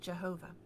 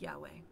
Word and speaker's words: Yahweh: up with jehovah later however scholars realized that those were not the vowels of the name of God and they I'm not sure how this happened but they changed their ideas about how the consonants themselves were pronounced and that's how you get Y H WH and their best reconstruction of the name of God which is Yahweh I find that kind